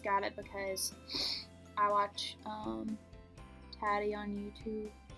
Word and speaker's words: Tati: I just got it because I watch Tati on YouTube. Well, Tati. That's how she pronounces it.